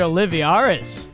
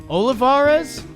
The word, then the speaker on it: Olivares: awesome things uh Edward oliviaris Olivares I think I added a syllable in there he's been raking uh